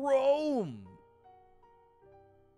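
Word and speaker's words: Rhoam: King Rome! The H is silent.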